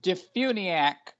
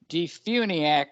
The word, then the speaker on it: DeFuniak: uh your community yes the name of the town is defuniak florida d-e-f-u-n-i-a-k d-funiak springs florida all right so we